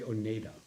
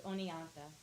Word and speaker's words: Oneonta: pronounce it Oneida Oneonta I always wanted to say oneda no it's Oneonta Oneonta it's beautiful up